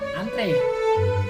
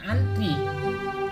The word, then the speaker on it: antre: Misalnya kita mengucapkan kata antri, padahal seharusnya diucapkan adalah kata antre. Padahal dalam bahasa kata baku yang tepat itu adalah antre, bukan antri. Kasus yang sama juga terjadi pada kata apotek.